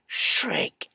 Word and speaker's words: Schräg: language of German people they spell it SCH are a and then they put two ducks over the a and then the end the word with the letter G let's pronounce something like Shrek interesting isn't it it